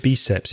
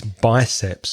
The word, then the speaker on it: biceps: very colloquial also be careful with the pronunciation of biceps Gabi I think you said be SEPs its biceps so your biceps and your triceps but wonderful pronunciation on